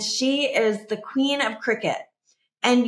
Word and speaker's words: Cricut: is the queen of Cricut and you would think cricket was spelled like like you know Jiminy Cricket right or Cricket the game but Cricket is spelled c r i c